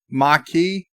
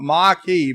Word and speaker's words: Maquis: those two pronounces do they don't say the s Vance a marquis machi is there a difference marquee machi you wanted Mario and now I'm saying marquee but that's wrong you want machi but Mario make up